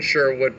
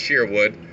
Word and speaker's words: Sherwood: see the sheerwood diner written sherwood pronounced sheerwood as taught to us by the worcester historical museum you see the famed